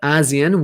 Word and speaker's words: ASEAN: in southeast asia and asean there are 10 there are 10 okay please pronounce correctly for this word it's asean asian which is short for the association of southeast asian nations one more time of